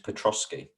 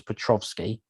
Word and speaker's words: Petrosky: notice that i think it's petrosky say again please petrosky okay i mean i'm pretty good at getting names right so trying to pull myself up here and go i've probably been saying his name wrong but just in case people thought his name was petrovsky i've already forgotten what